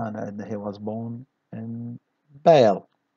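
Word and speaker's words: Bâle: هنا عندنا he was born in Bale. We notice here that the S is silent.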